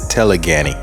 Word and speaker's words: telegony: And when that occurs, science calls that telegony, and some pronounce it telegany.